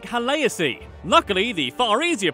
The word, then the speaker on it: Khaleesi: The word Khaleesi, essentially meaning queen, should actually be pronounced more like Haleasi.